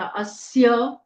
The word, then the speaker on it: अस्य: ओम अस आदित्य हृदय स्तत्रस्य अ आधा स य पूरा अस्य आदित्य य पूरा है